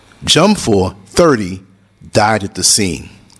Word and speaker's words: Dwumfour: The victim was identified as Eunice Dwumfour, and it's spelled the last name Dwumfour, but they say Dwumfour, so I'm gonna roll with that.